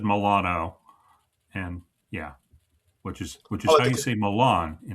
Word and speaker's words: Milano: said Milano, and yeah, which Oh, is how you say Milan in like Italian.